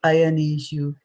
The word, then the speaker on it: ayaneṣu: See, I said ayaneṣu. So we did not put emphasis on any of the A's here.